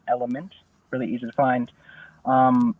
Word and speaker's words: ELYMVNT: like that okay so my name is element I'm from Denver Colorado it's spelled e l y mbnt uh the song is